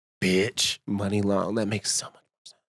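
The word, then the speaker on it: Muni Long: That's how you say her name. Money long. What do you thought? I was saying it. Mooney. Stop podcast everybody. Nobody ever said it out loud. It's money long.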